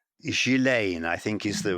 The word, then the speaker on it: Ghislaine: Today's episode, Jeffrey Epstein, whose name is well known, and some of those associated with him, Ghislaine Maxwell and Prince Andrew, one of the many powerful men in Epstein's orbit.